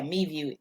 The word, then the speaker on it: MeVue: Yeah, MeView, MEVUE.